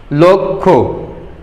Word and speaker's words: লক্ষ্য: আর তারপরে যখন ক্ষীয় শব্দটা আসছে তখন সেই ক্ষীয়র উচ্চারণটা কি হবে? ও ধ্বনির মতো উচ্চারণ হবে, লক্ষ্য। আর ক্ষীয়টা যেহেতু সংযুক্ত বর্ণ,